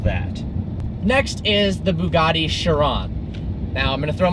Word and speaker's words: Chiron: But it's Chiron, it's French, and then it's not Cryon.